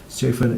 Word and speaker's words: Siofen: Siofen is pronounced to rhyme with no fun because that's what it's like when you meet her.